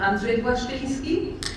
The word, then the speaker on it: Andrzej Błaszczyński: I call him Andrzej Błaszczyński, and I'm using my Polish accent and my Polish pronunciation of his name.